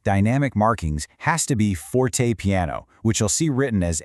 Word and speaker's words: fortepiano: And just so you can say it like a pro, it's pronounced forte piano.